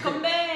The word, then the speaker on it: 건배: Konbae.